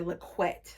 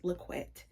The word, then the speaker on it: LaQuette: That's how you pronounce her name. I just was looking up or watching an interview of hers because I wanted to see how to pronounce it. But yes, it's LaQuette.